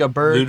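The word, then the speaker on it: Åberg: then as my wild card, give me uh, a bird. Is that how you say it? A bird? Oh, Ludwig a bird? Is that how you Ludwig say it? Aberg, whatever.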